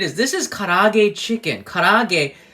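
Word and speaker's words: 唐揚げ: Karage, K-A-R-A-A-G-E is how we would say it, spell it in English.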